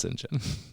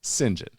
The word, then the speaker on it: St John: not talking about St John the Baptist it's pronounced singen anyway singen he's a guy I cannot wait to be